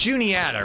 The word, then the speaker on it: Juniata: Yeah, it's Juniata, right? I was definitely mispronouncing it the first times.